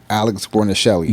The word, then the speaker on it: Guarnaschelli: And Chef Alex Guarnaschelli. Yes. Listen. I butchered her last name.